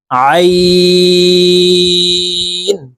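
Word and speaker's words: عين: এক আলিফটা নিয়ে পড়বো আইন আইন হরফ হালুকের মধ্যখান থেকে চাপ দিয়ে উচ্চারণ করব কারণ আইন হরফের মাখরাজ হলুকের মধ্যখান থেকে হবে আইন গাইন গাইন ফা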